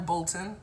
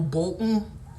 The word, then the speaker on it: Bolton: all the time um I don't like imploded consonants so I don't want to hear Mountain or fountain but just uh whether this singer one time remember Michael Bolton I would probably say Michael bull and it's just horrible but to hear Michael Bolton it just feels like you almost gagged on the word and and then something